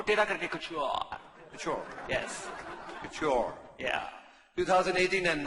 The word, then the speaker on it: couture: goes into it's almost couture, but not quite. Sonia, can you please Just to repeat, explain. how do you pronounce this thing? Please, couture. Please struggle. Twist your tongue 2 times and say cute.